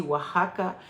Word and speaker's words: Oaxaca: Ça se dit Oaxaca, ça s'écrit Oaxaca. O-A-X-A-C-A. Mais ça se dit Oaxaca.